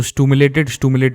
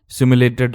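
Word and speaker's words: simulated: उसको पहले तो प्रोनाउंसिएशन पता नहीं है इसकी, सिमुलेटेड रैंक बोलते हैं इसे, स्टूमुलेटेड बोलेगा वो।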